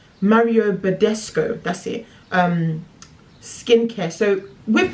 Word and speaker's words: Mario Badescu: So now I'm using my Mario, I never say his name right, Mario Badescu, that's it, skincare.